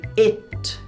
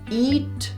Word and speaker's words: it: E quando as pessoas encontram o it, vamos aprender a pronunciar essa palavra. It, não é eat, porque senão fica assim, comer, nem itch, porque senão fica assim, coçar. It.